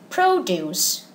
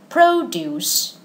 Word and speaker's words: produce: And in this case, how is it pronounced? It's produce, produce.